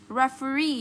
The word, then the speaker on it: referee: Referee, nhấn trọng âm vào đây.